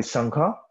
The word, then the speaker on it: संघ: संघ होता है, और जिसको संघा भी कह सकते हो, संघ भी कह सकते हो, ठीक है, प्रोनाउंसिएशन पे इतना नाराज मत होना मुझसे, ठीक है। संघ भी कहते हैं, संघा भी कहते हैं, संघा मतलब इंग्लिश में संघ, जैसे भी आप प्रोनाउंस करना चाहो।